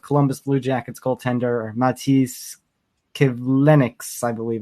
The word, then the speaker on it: Kivlenieks: the passing of Columbus Blue Jackets goaltender Matiss Kivlenieks, I believe it's pronounced. Kivlenieks, yes.